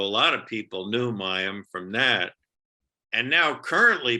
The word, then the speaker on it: Mayim: last one is that the name is mayim bialik is that how you say it you're close it's mayam mayam mayam bialik so yeah mayam is